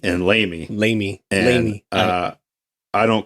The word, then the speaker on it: LAME: aircraft engineer maintenance engineer lame pronounced lamy you could specialize in